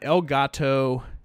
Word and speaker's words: Elgato: so I've got an elgato and I probably even pronounced that wrong it looks like el gato to me that's what should be right it should be like the cat it's an Elgato Game